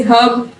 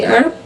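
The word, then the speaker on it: herb: ये British English में कुछ वर्ड्स हैं जिनमें हम इनको प्रोनाउंस करते हैं एच को, जैसे हब, हर्बल। लेकिन अमेरिकन इंग्लिश में इसको प्रोनाउंस नहीं किया जाता, इसको बोलेंगे अर्ब और हर्बल।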